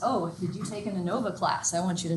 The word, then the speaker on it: ANOVA: This word, by the way, is ANOVA. It's always ANOVA. I've heard many different pronunciations. ANOVA, ANOVA, it's ANOVA.